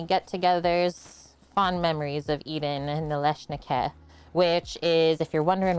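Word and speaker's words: налисники: It's actually pronounced Nalysnyky.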